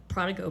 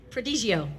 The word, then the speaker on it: Prodigio: And mine's the La Sportiva Prodigo Pro. Is that how you say it? Prodigio.